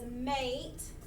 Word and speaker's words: mate: now the word says mate instead of mat, because that silent E does something to the A to make it change its sound from A to A.